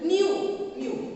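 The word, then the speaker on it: ν: Frequency of a wave, which is denoted by the symbol nu. It is Nu. You pronounce it that way.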